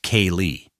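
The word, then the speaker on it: ceilidh: kitchen parties or a Friday night Sailith, pronounced K-Lee, at the Irish Hall in Charlottetown.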